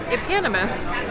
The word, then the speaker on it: eponymous: name of it sherbert of the summer it's pronounced epanimous and it's a person of a person giving their name to something right eponymous hero of the novel they're of a thing